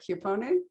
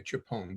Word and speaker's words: Chiappone: My folks Americanized the name. They wanted to be Ozzie and Harriet, and so we just say Chiappone. But in Sicily, it would be Chiappone.